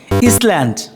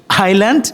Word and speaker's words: island: ইসল্যান্ড, Island. আইল্যান্ড।